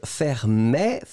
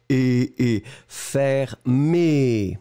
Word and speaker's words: fermé: So this one was fermé. Look at all the options, in fact. Hop là. First one is once again the close sound. So the close E. Fermé.